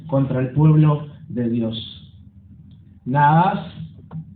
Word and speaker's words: Nahas: Naas, ahí está el acento en la segunda A, el rey amonita intimida,